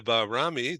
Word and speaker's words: Bahrami: Okay, welcome Bahrami. Did I pronounce that right?